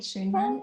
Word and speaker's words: Schoenmann: you pronounce it perfectly right, Schoenmann.